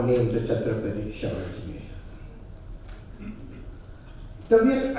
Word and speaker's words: Tabiyat: Tabiyat, I must say, is a little attractive word. A two-syllable word, short, sharp, with a staccato-like effect.